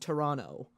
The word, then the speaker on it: Toronto: say that you don't say the second T it's just Toronto Toronto really I've always said